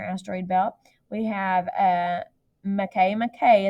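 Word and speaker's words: Makemake: belt we have a McKay McKay is how you pronounce that it looks like make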